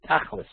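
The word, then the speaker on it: תכלית: need, or answer that tachlit. Again, tachlit is one of these funny words. We use it colloquially today. We talk about tachlis. Like even in Hebrew, it's sometimes pronounced in its Yiddish version, tachlis, which means like practical.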